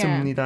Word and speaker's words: 씁니다: 씁니다. It doesn't... 씁니다, 합니다. Even though the last consonant is p, we don't actually pronounce it as p, but Sup.